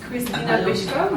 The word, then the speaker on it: Krystyna Pyszkova: your Instagram yeah definitely um my Instagram is Christina bishko my name is a little bit difficult but it's spelled k r y s t y n